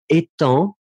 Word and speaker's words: étant: So we write it differently, but look at the two last words, so it will be, repeat after me, étant. Étant. Good, hein? Final G not pronounced, and then the other one, éteint.